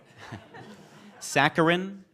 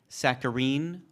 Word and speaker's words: saccharine: the pressure is off this word has three variants are you ready bring it sacarin sacarin or saccharine sacarin sa a a